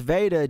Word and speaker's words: Veda: So, yeah, man, it's pronounced Veda just like the chick on My Girl.